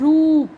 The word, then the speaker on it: रूप: जैसे इसमें दे रखा है रूप, तो हम इसको प्रोनाउंस कैसे करते हैं, थोड़ा लॉन्ग में करते हैं।